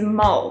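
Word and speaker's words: mal: language which is Afrikaans the word for crazy is mul it's spelt in a L and my name starts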